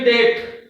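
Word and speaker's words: debt: okay being silent here d e b t B is before T then B will be silent and the pronunciation will be date okay the next silent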